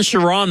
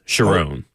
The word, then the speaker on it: Sherrone: Sherrone Moore, who I've been calling Sherrone Moore for the longest time, and it's Sherrone. Oh, is it? Yes. It's a weird, like it's a double R.